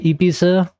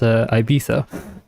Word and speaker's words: Ibiza: I'm trying I think I will try to say Ibiza more nowadays. Um cuz that's like the correct pronunciation as far as I'm aware. Um but like the way us British people pronounce it is Ibisa.